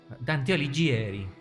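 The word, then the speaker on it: Dante Alighieri: Dante Aligieri. Exactamente. Así se pronuncia.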